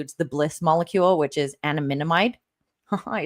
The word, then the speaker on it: anandamide: It includes the bliss molecule, which is anandamide.